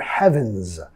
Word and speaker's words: heaven's: Nota acá, for heaven's, la S vamos a pronunciar como una Z. For heaven's, for heaven's sake.